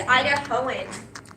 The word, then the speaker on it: Idahoan: It's actually Idahoan. That's how they say it.